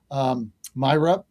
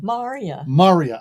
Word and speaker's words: Maria: Also, Myra. How do I say your name again? Maria. It's 5 weeks later. Rhymes with how are you?